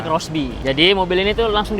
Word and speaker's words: Xbee: Tulisannya sih XB tapi bacanya Crossby.